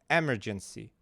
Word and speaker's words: emergency: Emergency. I don't know how to read it. It's not correct. E. Emergency. Emergency. It should be emergency. The second syllable should be stressed.